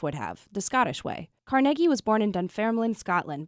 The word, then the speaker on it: Carnegie: He would have pronounced it Cargi.